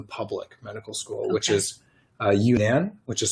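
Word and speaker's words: UNAN: get into the public medical school which is you nan which is spelled UN a.m.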